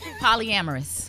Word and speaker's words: polyamorous: And the other one, how you pronounce the other one? Polyamorous.